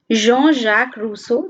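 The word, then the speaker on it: Jean-Jacques Rousseau: philosophers that are mentioned in the book G Jean Jacques Russo this is the correct pronunciation Jean-Jacques Russo then John Locke and Montesquieu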